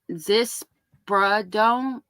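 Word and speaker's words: ziprasidone: Zispradone.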